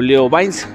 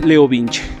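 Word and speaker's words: LeoVince: la motocicleta de agregar el leo vinci o leo bynes como ustedes lo quieran pronunciar yo sé que es leo vinci bien entonces como tal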